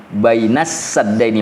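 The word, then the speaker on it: بَيْنَ السَّدَّيْنِ: dari dari aatnya asim membacanya dengan bifath Sin dengan membaca dengan membuat huruf Sin itu berharakah fathah Jadi dibacanya bainasaddaini makanya Quran kita itu ditulisnya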